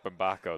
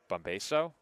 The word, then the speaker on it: Bombako: O, he did not get that right. Mick Bombako the batter. What did he say? I think he said Bombaso.